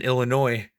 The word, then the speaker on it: Illinois: a little funny joke i used to pronounce the s in illinois i know some people